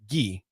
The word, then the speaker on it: gi: it's pronounced gi. Gi. G-H-E. It's spelled G-I, pronounced G-H-E-E. And So will he it's be gi.